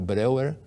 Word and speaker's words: Breuer: E Freud, Jung, Breuer, se escreve Breuer, mas é Breuer, e até muitos outros da época também faziam isso.